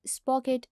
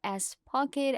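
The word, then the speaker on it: Spocket: so let's get started at first we have spock it dot co or s pocket as some people will pronounce it sprocket is an amazing platform that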